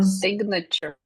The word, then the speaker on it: signature: So in this form, it is a silent G, and in this form, it is a spoken G.